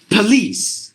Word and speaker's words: police: it should be Patrols it's not police it should be like like this like this uh lease police we have to get the stress here police sir police patrol it should be police patrol not police patrol so look